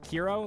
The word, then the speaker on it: Kero: next this is hero KIRO Quest is that how you pronounce it KIRO like rhymes with hero fling yourself towards pink